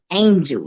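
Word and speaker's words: Angel-a: title of the book Angel he he he gave it the spelling because it's it's not how you spell angel you know the A on the end is silent it's silent for a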